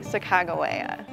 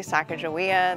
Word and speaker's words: Sacagawea: I say Sacagawea. It used to be Sacagawea. That's how it was when I was a kid. But historians think the new pronunciation is more like what Lewis and Clark actually called her.